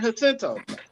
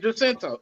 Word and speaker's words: Jacinto: call it San Jacinto. It's San Jacinto. You gotta I thought pronounce the it J, properly. yes, I thought the J wasn't pronounced right. It's It's an pronounced H, as an H, As an H.